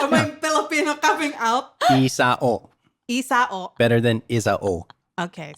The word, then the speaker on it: Isao: We have a very good friend of ours who's hanging with us today, Thomas Isao Did I say Isao? Yeah. Isao, am I Filipino coming out? Isao.